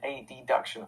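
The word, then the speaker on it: adduction: the same he said so i'll say abduction and a deduction and i'm like wait those sound the same too a b duction a deduction also kind of sound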